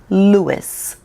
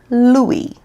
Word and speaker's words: Louis: what i'm saying and in america we say louis that's how we pronounce it here in america now i'm learning that over in the uk y'all say louie how am i supposed to